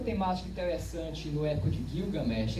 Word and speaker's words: Gilgamesh: A pronúncia mais coché, assim, mais exata, seria Gilgamesh. Mas há gente que sustente que os sumérios falavam, na verdade, Bilgamesh. Seria uma outra pronúncia.